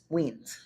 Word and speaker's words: Wiens: It's like it's Weens. Well, there is a thing too. There is another. Next to each other. The first one is you hear its name. I Y. The E is silent. It's Weens.